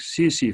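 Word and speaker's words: tsetse: इसी तरह एक सी सी फ्लाई है, टी साइलेंट है बेटा, सी सी फ्लाई है ऑफ अफ्रीकन कंट्रीज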